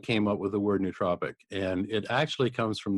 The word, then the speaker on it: nootropic: all, even the term, now I've been pronouncing it nootropic, but you pronounce it nootropic. There's a big debate in the neurohacking and biohacking space about how to pronounce it.